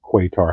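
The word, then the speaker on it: Qatar: one I have is cutter or quar however you pronounce I pronounce it cutter uh quote if the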